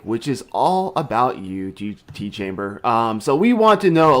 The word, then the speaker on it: Tchamber5: And now everybody is like really like I've heard it pronounced so many different ways, like Tchamber 5 or Tchamber or whatever, and it's actually just Tchambers.